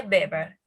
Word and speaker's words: Weber: dulce y de beber se escribe de webber pero se dice beber y bueno este autor